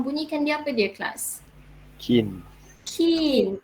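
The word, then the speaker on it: kein: Keen. Keen, correct. Saya cakap I bunyi dia E, macam bahasa Melayu, keen.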